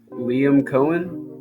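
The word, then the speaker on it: Liam Coen: we go do Jaguar higher uh how you pronounce that Liam Cohen Liam Cohen okay yeah yeah as head coach man what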